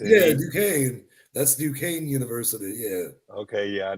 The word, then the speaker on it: Duquesne: Duquesne? Is it? Yeah, with like an SQ. Yeah, the S. Yeah, Duquesne. That's Duquesne University.